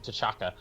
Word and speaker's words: T'Chaka: Well, and they're doing the same thing with his dad too, where they call him T'Chaka, and I always thought it was just a silent T and then Chaka.